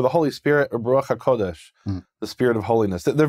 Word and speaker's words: HaKodesh: It's two different forms, Kadosh and Kodesh. There are places where this phrase is used in Hebrew Matthew, and it's spelled out with what we call a plene, that is the full form, where it's kuf vav dalad shin, and that tells you it's HaKodesh.